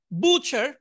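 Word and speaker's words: butcher: বুচার, এখানে থ্রিটা উচ্চারণ হবে না, বুচার কসাই।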